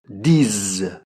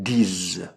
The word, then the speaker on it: disent: Ils, elles disent. Donc là aussi, prononciation Z. Ils, elles disent.